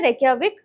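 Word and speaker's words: Reykjavík: इसमें जे साइलेंट है रेकियाविक।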